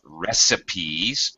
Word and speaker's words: recipe: you that but it's it's an exception to the normal spelling rules and it's pronounced recipe in any case if